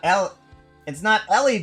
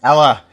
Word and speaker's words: Ella: It's not Ellie Beatmaker, it's not Eli Beatmaker, it's Ella. Ella Beatmaker.